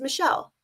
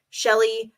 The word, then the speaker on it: Michelle: gets mispronounced so often you know what gets mispronounced even more than that shell you know how many times i've gotten shelley chalet chell like okay whatever your